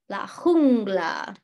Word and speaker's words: jungla: Yep, so that J sound is always going to be a huh, like huh, la jungla, la jungla.